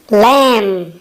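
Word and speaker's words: lamb: Sheep, sheep means भेड़, और sheep के बेबी को कहते हैं लैम। यहाँ पे बी साइलेंट है।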